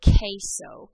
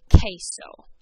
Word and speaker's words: queso: a little funky but every time that q and u are together it makes a k sound an example of this you might have seen the word queso q-u-e-s-o on a restaurant